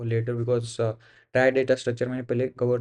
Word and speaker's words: trie: अ try pronounce as ट्राई और prefix ट्री इज़ अ ट्री data structure used to efficiently स्टोर एंड रिट्रीव keys in data sets of strings.